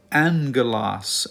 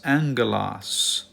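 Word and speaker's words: ἄγγελος: have two gamas here the first gamma this one will be pronounced with an n Sound and so this is not aalas this is Angelas Angelas okay and so whenever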